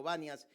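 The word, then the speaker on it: Banias: eh porque saben que los árabes no pronuncian la P y la P la transforman siempre por B y por eso se le conoce como vanas en vez de ser panias.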